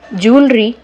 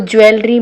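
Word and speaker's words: jewellery: ठीक है, वर्ड्स देखते हैं, पोइट्री, ज्वेलरी। ध्यान रखना कभी भी इस वर्ड को ज्वेलरी मत पढ़ना। ठीक है, इसका जो एक्चुअल प्रोनाउंसिएशन है वो क्या होता है, ज्वेलरी।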